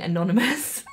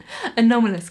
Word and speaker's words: Anomalous: I said it right. I've just had to say it like 3 times because I kept saying anonymous. Anomalous Chloe.